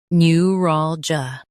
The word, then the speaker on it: neuralgia: new rawl juh new rawl juh new rawl juh new rawl juh In US, stress rawl. In UK, stress rawl, but start with new.